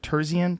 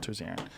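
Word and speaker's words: Terzian: oh great restaurant yes how do you say John's last name tiian tiian tiian not tan um and John was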